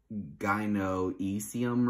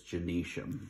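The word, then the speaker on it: gynoecium: male part it looks it's spelled like uh it looks like gyno easium or something but it's genesium so it's spelled I know um e-c-i-u-m for genesium and then andresham is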